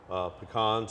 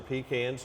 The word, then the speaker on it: pecan: were good as well pecans or pecans depending on where you say how you say it where you live it was it was